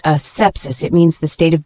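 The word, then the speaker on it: asepsis: sepsis a PS i s it's a noun pronounced a sepsis it means the state of being free from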